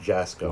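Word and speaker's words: Jaczko: It's pronounced Jasko. Wow. Yeah, I think it's Yasko Yasko, I think is how Greg Yasko.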